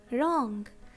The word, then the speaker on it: wrong: For example, wrong. This word is starting with WR. So letter W is silent.